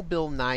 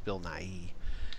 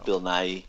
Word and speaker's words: Bill Nighy: a whole the whole bill nye here is that how you say his name or building I I think it's bill nighy so I forgot yeah